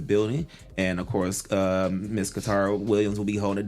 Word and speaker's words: Katara: It's Katara. I don't know why. Just say Tara. Taira. That's Yeah, why that's my Katara. name on Facebook. And I've said it, and I've been saying it right the whole show.